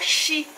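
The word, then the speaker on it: 四: Aqui no Japão o número 4 ele é pronunciado como Yon ou Shi.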